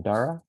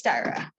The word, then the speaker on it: Daria: had a question uh i think i pronounced your name dara is uh are you there yes it's it's dyra let me just turn